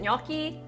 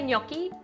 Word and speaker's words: gnocchi: do you say it is it knocky knocky knocky look I don't know I'd say gnocchi I feel like that's